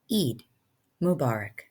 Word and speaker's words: Eid Mubarak: Eid Mubarak.